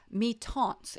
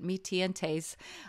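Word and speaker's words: Mi-Teintes: it was these um canson me taunts it's called it's a french word i used to butcher these words i think i called it me tientes i thought it was spanish but um these are papers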